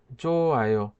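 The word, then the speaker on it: 좋아: হবে কিভাবে জো আয়ো আমরা জানি নিচে যে হিউটা থাকে বাদ্য মেছে যদি হিউদ বসে সেটার উচ্চারণ করা হয় না বা উচ্চারিত হয় না তাহলে এইটা উচ্চারণ করতে হবে কিভাবে জোয় জোয় অর্থ কি ভালো আশা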